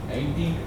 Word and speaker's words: anything: And the pronunciation of TH sound. Anything. And remember, the ing sound is always ing.